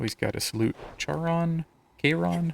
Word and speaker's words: Kronos: Kron. How do you say it? Kronos.